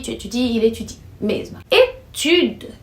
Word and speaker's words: étude: Étude, que puxa mais no u aí, étude, é para dizer estudo, estudos.